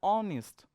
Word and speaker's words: honest: going to focus the sound and sound is honest so it's started with all as is silent here at the silence here so we